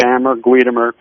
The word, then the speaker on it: Guitammer: Hey, first of all, tell me about, am I pronouncing your company right? Yeah, that's close enough. Okay. Guitammer.